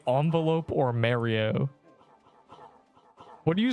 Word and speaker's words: Mario: It's a me Mario. You can't. This is not a good example. If you mispronounce Mario, you're just ignoring the man saying it. My grandma says Mario. Mayo.